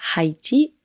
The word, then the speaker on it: Haïti: on ne dit pas Haïti on dit Haïti on ne prononce pas le h pour celles et ceux